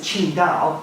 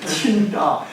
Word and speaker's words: Qingdao: If you buy the beer over here, it'll say on the label Tsingtao. Right. That's the way Charles thing. When you're next in China, pronounce it Qingdao when you order one, and they'll go, yeah.